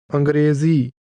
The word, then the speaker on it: ਅੰਗਰੇਜ਼ੀ: ਅੰਗਰੇਜ਼ੀ The name of the English language is pronounced with a conversational, mid-level tone.